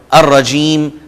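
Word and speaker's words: الرجيم: الف لام آتے ہوئے لام سائلنٹ ہو جائے گا، اور جو ہی ہم بول رہے ہوں گے تو لام کو ہم پروناؤنس نہیں کریں گے، جیسے میں نے آپ کو مثالیں دے دیں، الشیطان، الرجیم، الدین۔ دوسرے حروف ہم ان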